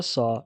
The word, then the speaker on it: ص: The letter sa is the emphatic version of the letter sa. It's pronounced like a heavy S with a deep and bold tone.